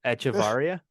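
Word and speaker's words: Echavarría: If I can no, Echevarria. Is that how you say it? Yeah.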